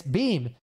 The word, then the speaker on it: Beahm: his name guy uh how do you say it's beam like does guy beam